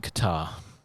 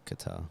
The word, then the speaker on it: Qatar: cuta it's cute Airlines is it qutar is it Qatar Qatar I think I think you're right like guitar but guitar I think it's Qatar but I'm don't know